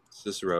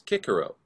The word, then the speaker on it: Cicero: pronounce the name cicero cicero yeah i that's how i pronounce it too but i read i heard somewhere that the way it was actually pronounced was kikero but you know that's